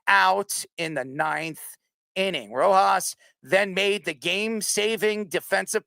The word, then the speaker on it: Rojas: How do you pronounce his name? Rojas. Yeah, Rojas, the Dodgers' nine hitter, an ace fielding second